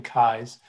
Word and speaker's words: Keyes: Just a correction, last name Keyes, which is commonly mispronounced, so no worries.